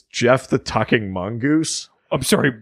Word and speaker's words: Gef: the or no sorry it's pronounced Jeff but it's spelled GF so it's Jeff the tucking Mongoose I'm